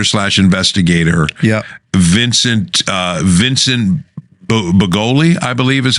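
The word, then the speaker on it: Bugliosi: And if I'm pronouncing the guy's name, the famous prosecutor / investigator, Vincent Bugoli, I believe is how you say it. Okay. There's an S there, but I think it's silent.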